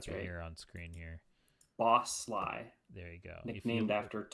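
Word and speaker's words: Sligh: uh is it is it's pronounced is it pronounced Sly It's s i g h I'll here on screen here boss Sly there you go nicknamed after Tom the boss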